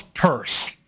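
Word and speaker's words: Peirce: guy was named um Charles purse but it's spelled Pierce but he's a so we call him purse but he also wanted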